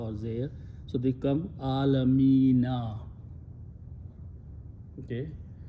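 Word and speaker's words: العالمين: So they come Alamina. Okay? When you read Rabbul Alamina, you stop, you say Alameen. Remember that. It is still Rabbul Alameen.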